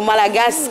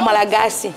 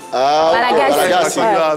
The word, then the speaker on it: Malagasy: Surtout le petit coucou que j'ai fait au Malagas, comme ils aiment le prononcer. Au Malagas, toi j'aime dire Malagas. En fait, c'est comme ça ils disent là-bas, au Malagasy. Malagasy.